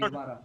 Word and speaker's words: Guevara: G plus U together pronounced as G. Okay. G plus U together Okay. pronounced as G. Guevara.